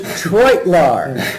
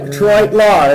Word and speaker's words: Treutelaar: It's Coach Treutelaar. Thank you, Sparky. Like Detroit, Treutelaar is how he said it to me, and I've been saying it wrong forever.